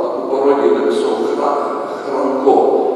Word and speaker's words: Франко: До речі, наголос тепер, тому що в радянський час був наголос Франко. Натурально його називали Франко. Франко і так він це знав і в своїх творах. По наголосу Франко, але Генералісимус Аустину Франко, лідер іспанської нації, то вони змінили наголос.